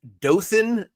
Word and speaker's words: Dothan: And he would like the dot put in Dothan, Alabama.